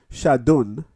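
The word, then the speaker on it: שדון: But it says it is pronounced shadun, but spelled Shedin, which literally means demons.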